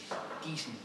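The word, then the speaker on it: Giesen: Gießen.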